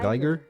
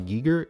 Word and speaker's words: Geiger: Also, it's pronounced geer and not giger.